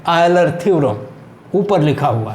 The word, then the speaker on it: Euler: इसके उच्चारण में कहीं कहीं दिक्कतें लोग करते हैं, क्योंकि कुछ लोग इसको यूलर्स थ्योरम पढ़ लेते हैं, लेकिन बताया जाता है कि ये आयलर प्रमेय इसका उच्चारण है, क्योंकि ये विदेशी व्यक्तियों के नाम हैं, हमारे जो गणितज्ञ महोदय हैं, तो हम इसको आयलर थ्योरम कह रहे हैं।